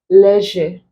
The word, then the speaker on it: leisure: We have zebra, leisure, boys, exact. As much as we pronounce this as leisure, it is not leisure. It is not the Z sound that is there.